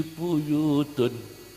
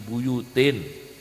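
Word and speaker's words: بُيُوتٍ: Fi buyutun azinallahu an turfa'a. Fi buyutun. Nah, muskil ini. Akhirnya diingatkan oleh Kiai, Mas, ini salah ya, bacanya Quran fi buyutin azinallahu an turfa'a, jangan fi buyutun, salah itu.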